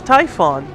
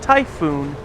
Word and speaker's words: Typhon: try again oh yeah it is I was mispronouncing it this is Typhon I was just mispronouncing it as typhoon even though it is pronounced Tython Typhon is